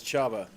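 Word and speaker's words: Csaba: And uh we've been informed that the pronunciation we're after is Chaba.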